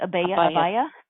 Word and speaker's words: abaya: Abaya? Abaya.